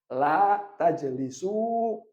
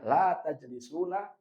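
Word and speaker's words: لا تجلسوا: La tajlisu, yang bacanya la tajlisuna, salah.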